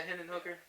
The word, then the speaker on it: Hendon Hooker: Hendon Hooker, isn't that how you say it? Yeah, Hendon Hooker.